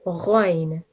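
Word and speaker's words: غين: It's said with your mouth rounded, and it's one of the thick and heavy letters that we have. So the Arabic alphabet is made of 29 letters. 7 of them are pronounced with a thick and heavy sound, and ghoin is one of them.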